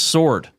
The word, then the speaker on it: sword: r d you got it and it's it's pronounced sword it's pronounced sword it's a noun okay now go for the